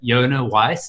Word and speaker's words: Yonah Weiss: our star guest on the show we've got Jana Weiss am i pronouncing that correctly perfectly having with your South